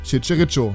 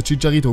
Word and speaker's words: Chicharito: karabek dann hazard Alonso riberi lesco obermeyang und chicherito bzw chicharito Grüße Lukas falls du das jemals sehen wolltest